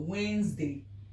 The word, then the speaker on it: Wednesday: But the right pronunciation is what? Wednesday.